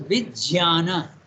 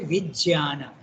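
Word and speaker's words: vijñāna: And he said that it has to be pronounced as Vijnana. It's not a G, it's a J. So you have to say Vijnana. Okay, that's the right way to pronounce it.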